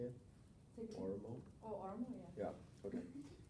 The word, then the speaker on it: Oromo: Oromo?